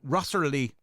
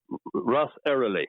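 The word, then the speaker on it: Ross Errilly: Is it Rossery Monastery? Rossery. Ross Ross Eerily. Ross Eerily Monastery.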